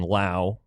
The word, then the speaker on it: Lowe: Brandon Lau, which is spelled like the Lowe.